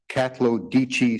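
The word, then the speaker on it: Katlodeche: That's at compendium tab 20 page 158 of the reply compendium 2013 FC458 catichi spelled the way I pronounced it k a t l o d e c h e first nation.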